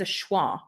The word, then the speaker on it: are: are clean the word the word are in the sentence is pronounced just as awah yeah so the windows